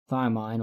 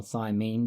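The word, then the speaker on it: thiamine: by a thymine deficiency thymine or thymine depending on how you choose to pronounce it is one of the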